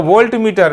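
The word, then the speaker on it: voltameter: screenshot ले लो अच्छा यह वोल्टमीटर नहीं है इसको ध्यान रखना होता है जिसकी सहायता से हम विद्युत अपघटन करते हैं उसको वोल्टामीटर बोलते हैं इतना बड़ा चेंज ए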